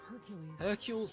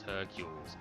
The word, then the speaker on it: Herkules: You might have noticed that in regards to pronunciation, I've been deliberately mispronouncing Hercules as Hercules. This is because it's actually spelt like this on the front cover.